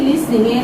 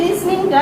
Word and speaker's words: listening: তো এই জন্য দেখো সর্বপ্রথম যে দক্ষতা সেটা হচ্ছে লিসনিং, LISTENING। এই লিসনিংটা, এটার উচ্চারণ হবে লিসনিং, নট লিসেনিং।